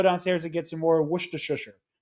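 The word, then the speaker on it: Worcestershire: The correct pronunciation of the word. I know that everybody around me has always said Worstshshire.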